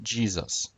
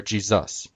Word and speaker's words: Jesus: When we pronounce Jesus in English, we pronounce it Jesus, or Jesus. Only if you slur the word does it sound like Zeus.